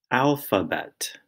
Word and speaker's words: alphabet: line ala alha bet alphabet second word whirl wind Whirlwind third word rig rigle and the fourth word nuck o knuckle now you'll notice that the F sound in alphabet is spelled pH the r sound in wriggle